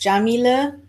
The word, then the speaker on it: Yamile: yes it's already time my name is Jamila that's how you pronounce my name usually the first question